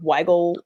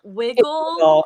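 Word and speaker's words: Wigle: i highly recommend yes it's actually pronounced wiggle whiskey but it's only one g w-i-g-s e okay we've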